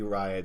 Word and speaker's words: Riott: The Riot Squad. Riot Squad. Yeah. Not Wyatt Squad. Yeah. Well, yeah. It was like, yeah, just look at the name, Riot. Not Wyatt.